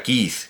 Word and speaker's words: Keith: bueno pero digamos que la pronunciación estándar la sería kit kit verdad eh kit Bueno